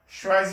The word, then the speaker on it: choisi: So here, choisis. You say je, you drop your R. So j'ai choisi. J'ai choisi. The S here is like a Z sound.